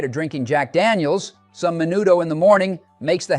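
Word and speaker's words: menudo: No, it's pronounced manudo.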